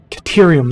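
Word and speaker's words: Caterium: So pure node is gold or cordium or cat katerium that's that's how it's pronounced katerium and the normal node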